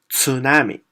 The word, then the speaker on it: tsunami: I can tell you it's pronounced as tsunami but how many of you can pronounce so if your English speaker right so what do you do you take out of the T so instead tsunami you pronounce it a tsunami another example is psychology